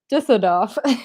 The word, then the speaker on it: Düsseldorf: Can you pronounce it one more time? Now that I'm like on the spot, I'm like, Düsseldorf.